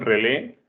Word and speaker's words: relé: Relevador, que también le llaman relé, con acento en la E, o también le llaman relay.